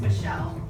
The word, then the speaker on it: Micheline: It's just pronounced Michelle.